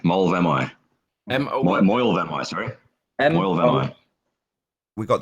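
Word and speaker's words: Moel Famau: Mole Vamai. Mole Vamai. M-O-E-L. Moyle Vamai, sorry. Moyle Vamai. We got the pronunciation. It's Moyle Vamoy.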